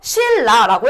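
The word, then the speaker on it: 신라: 실라라고 했을 때 요 니은이 뒤에 리을의 영향을 받아서 뭐가 된다? 실라가 된다.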